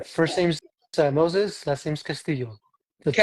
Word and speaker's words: Castillo: Yeah, first name's Moses, last name's Castillo. The two L, Castillo. the two L's, just pretend that it's a Y. So Castillo. Okay. Castillo, right?